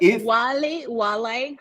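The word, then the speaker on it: Whalley: How it's pronounced? Wale. How do you pronounce that? Because I think that's English. I think it's English, right? Yes. It's English. It's Oscar Wale. His dad Wale.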